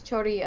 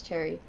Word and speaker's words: Choerry: it cherry blossom because i know there's some people say it's chori other people say it's cherry her name is jerome